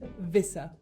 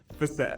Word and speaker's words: Visser: I'm assuming I'm saying it correctly, South African Visser, right?